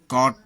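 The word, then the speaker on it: caught: Silent होते हैं, जैसे कॉट पकड़ा। यू जी एच यू जी एस टी में प्रायः यू या यू जी एच साइलेंट होते हैं, जैसे कॉट पकड़ा, ब्रॉट लाया, बॉट खरीदा, थॉट विचार।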